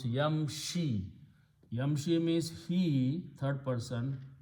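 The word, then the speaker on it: يمشي: which is not matched so we just don't pronounce that dhamma we pronounce yamshi yamshi means he third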